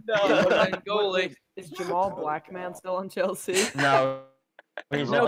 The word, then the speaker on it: Blackman: Normally people say black man, not black man. You're putting the emphasis on the wrong syllable there.